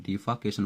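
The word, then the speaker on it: defalcation: अगला वर्ड आपका डिफाल्केशन। तो डिफाकेशन यानी होता है गबन घोटाला, यहाँ एल साइलेंट है, डिफाकेशन बोलेंगे।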